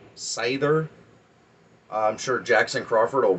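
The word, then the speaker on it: seidhr: that it is pronounced satyr and i have seen it pronounced cider um i like the d as the th and the pronunciation of it so it would be more like cyther i'm sure jackson crawford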